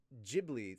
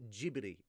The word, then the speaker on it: Ghibli: yes i pronounced it jibri not ghibli because in japan it's pronounced ghibli so i'm pronouncing it the way that it's pronounced in its country of origin but also at the